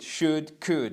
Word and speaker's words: should: À chaque fois le l ici, vous l'écrivez mais vous ne le prononcez jamais. C'est would, should.